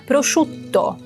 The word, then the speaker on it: prosciutto: Chu. Pense que é chuchu. To. Pausinha antes do T, porque é uma consoante dura, explosiva, então precisamos, com dois T's, precisamos da pausinha. Prosciutto.